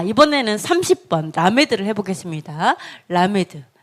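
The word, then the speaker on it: למד: 라메드. 네, 라메드죠. 30번이요. 이번에는 라메드고 리을 발음, L 발음입니다. 리을 발음, L 발음, 라메드예요.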